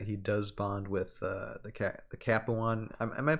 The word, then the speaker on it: Capuan: I believe it's pronounced Capua. Capuan. Or Capua. Capuan.